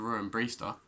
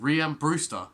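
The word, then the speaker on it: Rhian Brewster: that was because of ruin breester that's not how you say his name rian brewster missing a penalty because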